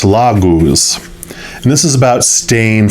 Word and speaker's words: Laguz: Yeah, it's Laguz.